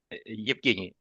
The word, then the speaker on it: Evgeny: Evgeny. Holy smokes. Okay, let's try again. I- Ev- Evgeny just spell it like you spell it.